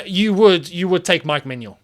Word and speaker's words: Mike Maignan: would you would take Mike Manuel right now and by the way just to clarify that is the correct pronunciation of the name I did actually um